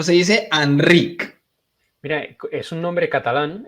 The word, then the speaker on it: Enric: el doctor enrick H anri se dice Enric o se dice anri Mira es un nombre Catalán entonces en catalán tenemos lo que se llama la vocal neutra que es una es